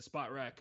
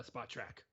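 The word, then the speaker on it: Spotrac: did some quick stuff on here thanks to spot rack uh spot track sorry spot track we learned how to say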